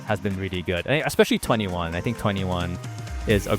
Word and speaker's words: 2NE1: Is that how you say it? Yeah, 21. Literally, their name is 21.